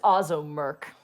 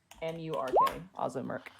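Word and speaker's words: Ozzo Murk: The bartender's name is Ozzo Merk. Can you spell that? Above game? For sure. O-Z-Z-O-M-U-R-K. Ozzo Merk.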